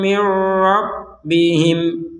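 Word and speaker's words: مِن رَّبِّهِمْ: Nah, nun sukun bertemu ro ini maka kita membacanya adalah caranya dimasukkan nun sukun kepada huruf ro disertai tanpa disertai. Nah, tanpa disertai dengungan. Jadi kita membacanya adalah mirrabbihim.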